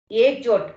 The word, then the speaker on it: Ikjot: So, again, you pronounce the name, Ikjot. How do you pronounce? Ekjot, ma'am. Ekjot.